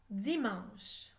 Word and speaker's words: dimanche: a huit lettres dimanche attention à la lettre e muette à la fin du mot dimanche 2 2 10 1